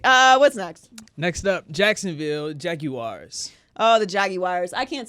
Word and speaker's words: Jaguar: Next up, Jacksonville Jaguars. Oh, the Jaguars. I can't say Jaguars correctly either. How do you say it? It's elegant. Jaguar. Jaguar? Mm-hmm. Like the commercial.